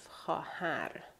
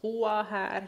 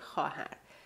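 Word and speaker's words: خواهر: So we write it, but we do not read it. Very rare thing in Farsi. So basically, we have khahar, not Huahar, not Chavahar, nothing like that. It's just simply Chahar. We read it as if the letter Vav is not even there.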